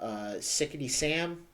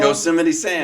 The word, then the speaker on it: Yosemite Sam: Sickety Sam? Sickety Sam? Oh, Sickety Sam? Am I botching his name wrong? Yosemite Sam.